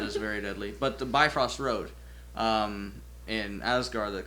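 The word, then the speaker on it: Bifröst: Anyways, the uh technical like the way you're supposed to pronounce it in that language is is sounds like beef roast.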